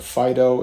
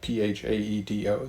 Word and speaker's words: Phaedo: hear a distinguished college professor call it the Phaedo, and the more I looked into it, that really is the appropriate pronunciation, coming from the Latin end anyway, when you see an A-E like that, P-H-A-E-D-O.